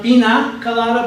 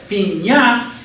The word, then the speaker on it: piña colada: So it tells you that the word pina colada is to be pronounced piña colada. So in order for us to tell you that it's not pina colada, but rather piña, we put a little eña, which says, when you read this word that says pina, the little eña at the top tells me to pronounce it nya.